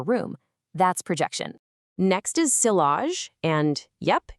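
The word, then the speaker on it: sillage: Next is silage. And yep, it's pronounced seage. It's a French word for that beautiful scent trail you leave behind when you walk past someone.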